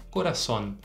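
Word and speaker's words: corazón: mais forte nesse caso então a sílaba mais forte é Son coraçon repete para mim agora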